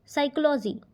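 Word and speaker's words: psychology: silent in the word साइकोलॉजी अब इसमें P silent है क्योंकि हम क्या पढ़ रहे हैं इसको साइकोलॉजी ठीक राइट द फोर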